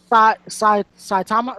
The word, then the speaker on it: Saitama: I'm gonna pick Saitama. No, I don't know how to pronounce that. Yeah, it's Saitama. Saitama.